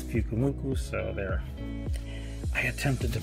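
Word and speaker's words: Pyukumuku: And it's, my son was telling me it's Pukumuku, so I know I didn't try to pronounce it the last time, but he says it's Pukumuku, so there.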